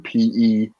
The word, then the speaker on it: Peugeot: But it's I can't necessarily pronounce all of them. Like one is Pegoat or PEUGEOT.